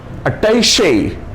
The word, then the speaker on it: attaché: अटैचे। अटैचे, ये जो ई मैंने छोटा करके लिखा है उसको उच्चारण में भी हल्के से खींचना है। अटैचे, अटैचे नहीं, अटैचे।